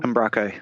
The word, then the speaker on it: Umbraco: take a look at called, how do you pronounce it? Umbraco? Umbraco, yep.